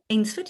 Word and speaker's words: Ainsford: How big is Ainsford? And have I pronounced it right? Ainsford, yeah.